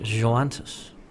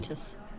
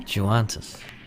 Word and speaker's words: Joantis: Leighton O'Connell, Josh Joantis. That's how you say it. Juanitas. No? Joantis.